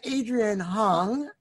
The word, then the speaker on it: Adrian Hong: We have Adrian Hong on. Am I pronouncing that right, Adrian?